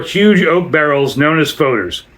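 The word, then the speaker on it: foeder: The beer is aged, typically for 2 years, in 294 huge oak barrels known as foders, a Dutch term pronounced like foder, some of which are older than 150 years and which range in size between 3,100 and 17,000 gallons.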